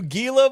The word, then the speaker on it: Gila: where it's like, you hear that all you Gila monsters. And you know, that's funny to me cuz I grew up around Hila Monsters. You're supposed to pronounce it Gila Monster.